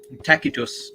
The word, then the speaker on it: Tacitus: Tacitus, technically. No. The C is hard.